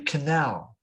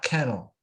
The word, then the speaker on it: canal: it's marine m-a-r-i-n-e and similarly canal not kennel so yeah so canal c-a-n-a-l yeah that is it